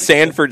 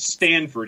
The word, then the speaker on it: Sanford: to follow yeah and it's sanford stadium it's not sanford correct it's not important and it's not stanford either well no there's no t in it so that wouldn't even make any sense but some folks will